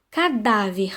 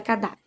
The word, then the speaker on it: cadáver: no jogo cadáver bom a gente já sabe que essa palavra é uma paroxítona então a penúltima sílaba é a sílaba tônica né então qual é a penúltima sílaba aí na palavra cadáver é o da né gente então nós vamos assim como mudar o da é um som aberto então é o que